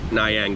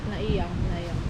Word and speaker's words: Nai Yang: Nayang Beach. I always seem to get the beach name wrong, but It's they called Naya. It's not Nayang. Nayang. Yeah. Because they pronounce it different than us.